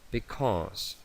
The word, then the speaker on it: because: Because, because, because. Bien, S entre dos vocales, S vibrada.